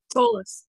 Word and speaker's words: Solis: And is that pronounced Solis, or is it pronounced Solis? Solis. Solis, okay. As in soulless.